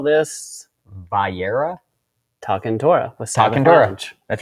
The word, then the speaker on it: Va'era: Va'era.